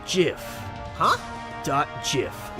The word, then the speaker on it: GIF: pronounced GIF huh do JF like the peanut butter the Creator said so that's dumb it's Graphics